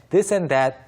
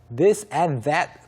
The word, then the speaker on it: this and that: 이것저것 this and that 그런데 this and that 어렵지 않지만 이것을 실제로 발음할 때는요. this and that 이 and와 that 사이가 연결이 되면서 this and that 또박또박 발음하는 사람 별로 없고 this and that 약간 this and that이 약간 that처럼 발음이 될 수가 있거든요. 이거 주의하셔야 됩니다.